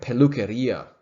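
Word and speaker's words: peluquería: say habla all right pelukaria notice the accent on the i and now these would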